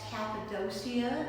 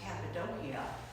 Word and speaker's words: Cappadocia: dot that's right under the word turkey that's cappadocia as it's pronounced here it's pronounced cappadocia in turkey and as you head west there's